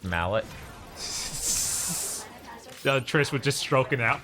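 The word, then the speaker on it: Mêlée Island: to DMC world sure you saying melee Island isn't real I'm saying melee island is not real it's incredibly real don't listen to Bob actually it's pronounced Mallet Trish was just stroking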